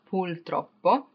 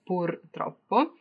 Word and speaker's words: purtroppo: It's not purtroppo, but unfortunately sometimes you can hear people using the L instead. So it's the same thing as molto and morto, right? But the thing is that purtroppo doesn't mean anything. There's not such attention to that, but it's purtroppo with the R or R in Italian.